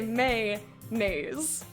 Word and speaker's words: mayonnaise: i have a mix i say may nays i don't say mayonnaise oh no we do